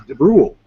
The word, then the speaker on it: DeBrule: And he said it was DeBrule.